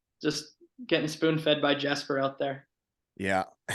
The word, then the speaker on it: Jesper: getting spoon fed by Jasper out there yeah Jasper Jesper Jesper I believe that Jay is silent I still call him